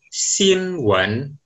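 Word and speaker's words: 新闻: Yang kedua, di bahasa Mandarin, bacanya adalah Xinwen.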